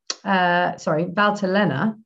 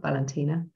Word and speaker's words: Valtellina: In Lombardia and in Valtellina, not Valentina. In Valtellina, it's known as Chiavanesca or Chiavanesca.